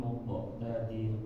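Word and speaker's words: مُقْتَدِر: Jangan di stop. Muqata. Fi maq'adi sidqin 'inda malikin muqtadir. Ya. Terus jangan ada remnya, Pak. Muqo. Lepas saja. Muqota. Baik. Sekali lagi, Pak. Fi maq'adi sidqin 'inda malikin muqtadir. Ya. Jadi itu masih ada remnya. Harus dilatih lagi. Muqo. Langsung lepas. Muqo. Setengah harokat pokoknya.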